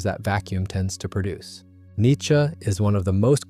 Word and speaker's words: Nietzsche: Nietzsche is roughly how you say it in German, though the English version has developed its own stubborn persistence, who lived from 1844